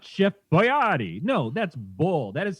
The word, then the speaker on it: Boyardee: something wrong that for my entire life is Chef Boyardee and then a couple years ago some idiot ass had an advertising no offense Jeff said Chef Boyardee and I'm like what is this you can't